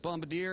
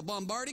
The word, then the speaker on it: Bombardier: you here for the bombardi conference you mean the Bombardier conference that's what I said bombardi well it's actually pronounced Bombardier well if you want